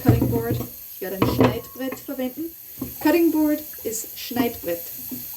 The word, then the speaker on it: Schneidbrett: Ich werde ein Schneidbrett verwenden. Cutting board ist Schneidbrett. Schneidbrett. Brett. Rett. R in the back. Rett. Brett. Brett. Schneid. Neid. Neid. Schnei. Schneid. Schneidbrett.